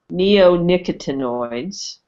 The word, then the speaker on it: neonicotinoids: I'm going to butcher this word but um neon actinoids you mentioned that Tom is adamant about the removal of neonicotinoids and I probably mispronounced that so correct me on that but